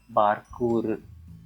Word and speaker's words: Bārkūrụ: script, Virāma sign indicates the special Tulu vowel ū, often called as the near silent vowel, and in many academic circles we write it with the letter U, the dot below it. So it's pronounced as Bārkūrụ.